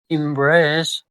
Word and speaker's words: embrace: It is a two syllable word and the stress is on the second syllable. Embrace. Embrace.